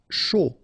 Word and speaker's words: chaud: Chaud. Final D not pronounced.